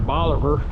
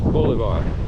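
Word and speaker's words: Bolívar: Anyway, I know enough to know that's not pronounced Boliver. It's Boulevard.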